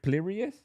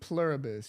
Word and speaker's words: Pluribus: All right, just in case you can't tell and But hey, Plurius on Apple TV. Pluribus.